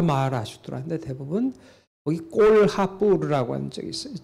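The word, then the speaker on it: Kolhapur: 그러니까 불교 석굴이 있는 지역들이 다 마하라슈트라인데 대부분 거기 꼴하뿌르라고 하는 적이 있어요. 전시 도록에는 콜라뿌르라고 콜라뿌르 그 H자를 안 썼던데 인도는 이 H자를 꼭 발음을 해야 됩니다.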